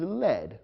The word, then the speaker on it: lead: The past tense of the verb lead is led, which means directed. However, there's another word pronounced led, which is spelled the same as lead, L-E-A-D.